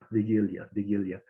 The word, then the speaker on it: Wigilia: And you told me the proper pronunciation is Wigilia.